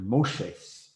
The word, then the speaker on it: Moshe: is kind of interesting hebrew you also kind of pronounce moses is different his name is actually moshe moshes which if you know